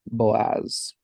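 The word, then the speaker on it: בֹּעַז: different things huh but we've got Bo and then a silent as Boaz Hana which is Hannah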